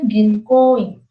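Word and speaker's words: 銀行員: Jadi walaupun tulisannya Ginkoin, tapi kita bacanya Ginkoin. Jadi ko-nya tetap panjang gitu.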